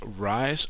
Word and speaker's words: Rei's: I believe it's pronounced Rise Minimap, and as you can see in my top right corner I have a minimap.